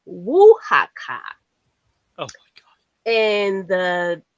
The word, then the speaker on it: Oaxaca: So it's pronounced Oaxaca Oh my god.